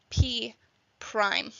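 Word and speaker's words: P′: we say it like if we have P with that mark next to it we say it as P Prime and all that means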